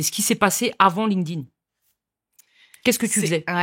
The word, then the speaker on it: LinkedIn: Donc est-ce que je le prononce bien déjà ? Oui. Parce que tout le monde dit LinkedIn. LinkedIn, parfait. C'est ça, c'est LinkedIn.